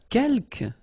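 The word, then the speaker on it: quelques: Uh keelk you don't pronounce the final s here. Kelk means few.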